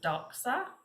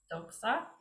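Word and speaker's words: δόξα: funny font um so it's da that sound with the c so doxa doxa um from which we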